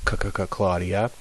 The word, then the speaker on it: Claudia: see first thing um C's are always like k is in Latin it's always C never s okay so if we